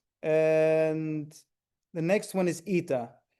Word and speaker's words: eta: And the next one is eta. It's another E sound, but it's a little bit longer. So it's an as in obey.